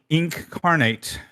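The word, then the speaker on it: Inkarnate: village up I used ink carnate um it's like incarnate but spelled with a a k um I use incarnate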